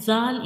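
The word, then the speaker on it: ذال: at the top and zal is actually a soft letter. When we pronounce zal, you make sure whistle sound does not come because this is a soft letter and we read it softly like zal.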